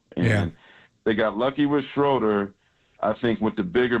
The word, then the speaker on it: Schröder: to go back yeah you got to pronounce his name correctly fam when you get on ESPN it's shuder he is German it's a German that's